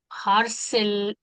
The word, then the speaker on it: harcèlement: En plus, il y a le problème du har, harcèlement. H is silent. H is silent. Harcèlement.